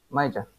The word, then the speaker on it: major: No, May. Like May. The month of May? Yeah. Major. That's it, yeah. Major. Yeah. Major. Even though we say majesty, we say major.